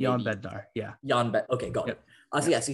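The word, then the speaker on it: Jan Bednář: So the likely starter is going to be, I believe it's pronounced Jan Bednar or maybe Jan Bednar.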